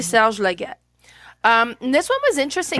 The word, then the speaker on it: Serge Laget: It's published in 2020 and it's created by, is it Sergei Laget or Serge Laget? It depends on how you pronounce it. In French, we used to Hmm. call it Serge. So I'll say Serge Laget.